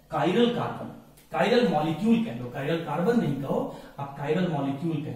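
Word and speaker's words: chiral: कायरल, कायरल, ये मैं लिख रहा हूं, ध्यान सुनिएगा, कायरल मॉलिक्यूल। ये कायरल मॉलिक्यूल क्या होता है?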